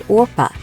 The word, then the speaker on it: Orpah: her name was originally supposed to be orpa after a character in The Bible but so many people got her name wrong that Oprah finally just stuck Winfrey spent